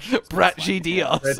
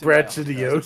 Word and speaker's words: Brachydios: Are you sure it's not pronounced Brach? Brachydios. Oh! Brachydios.